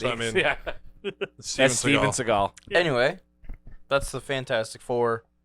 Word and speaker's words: Seagal: how you jason seagal i've seen him pronounce with seagull before yeah that's a meme he might be trolling because he's like oh my god he's a silly goofy guy it's definitely seagal but seagal is the